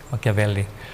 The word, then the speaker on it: Machiavelli: Dibacanya Machiavelli. CH itu kalau Itali K. Machiavelli.